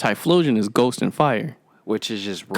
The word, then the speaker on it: Typhlosion: Is it spelled with a PH or with a F? PH. So, yeah, it's Typhlosion then.